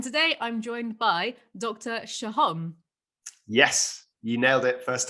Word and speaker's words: Sohom: Shahom.